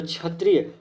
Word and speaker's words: क्षत्रिय: तो क्षत्रिय क जब भी हम बोलते हैं तो इसका उच्चारण में पहले क आधा क में हलंत, उसके बाद ये आ जाता है आपका ये खटकोण।